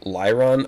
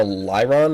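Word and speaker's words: Lairon: something like La yeah it was like La l a i r o n like lyron okay so is that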